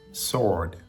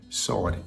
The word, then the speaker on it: sword: below up next is sword sword sword again the W is silent we don't pronounce a w it's just like Lord Lord sword sword Lord